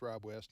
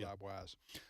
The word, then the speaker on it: Rob West: late last night thus I pron mispronounced a gentleman's name I should know I know it's Rob West not Rob wise all right so Sheron